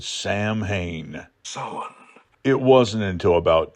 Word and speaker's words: Samhain: where Michael Myers was, I wondered why they were talking about Samhain and not Sam Hain. Well, they were talking about Sam Hain. They were just pronouncing it properly. The festival of Samhain.